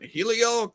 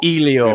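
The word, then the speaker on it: Hélio: You didn't roll your R's. And it's Now- Elio, right? Now- Elio. Well, it Here's a depends little on thing. if it's a Hispanic.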